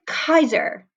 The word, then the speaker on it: Caesar: in cat so as we have soft C's like in Caesar as we would say today it is Kaiser but the with a hard K almost sound same with thing with